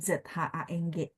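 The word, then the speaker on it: 长: Lina adalah panjang de zhang gitu ya. Jadi panjang de zhang karena dia ZH, teman-teman, udah pasti bacanya bersih, tidak ada angin ya kalau teman-teman lagi praktek di rumah.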